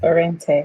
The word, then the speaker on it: Òrentéh: She has a product that she's launching or has launched called Òrentéh. I hope I said it right. Yes, Òrentéh.